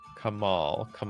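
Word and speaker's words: Kamahl: Kamal. How do you even pronounce the H?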